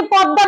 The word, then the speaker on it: পদ্মা: আবার এই যে পদ্মা বলেছি, এখানে হচ্ছে শব্দের শেষে দয়ের সঙ্গে ম ফলা, দ দুইবার উচ্চারিত হবে এবং শেষের দয়ে চন্দ্রবিন্দু থাকবে। উচ্চারণ হবে পদ্মা। কি হবে? পদ্মা।